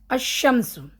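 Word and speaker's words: الشمس: अभी अब देखिए हां अकेला अशम्स अकेला ज़बर डाले शीन पे शीन शमसिया वर्ड हम अशम्स अब आया है वाव के पहले वाव एक हरूफ पहले आया है।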